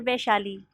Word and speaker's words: Vaishali: What is the correct pronunciation? Sir Vaishali.